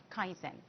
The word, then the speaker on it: kaizen: Now in Japanese culture uh the concept of kaizen am I saying it correctly?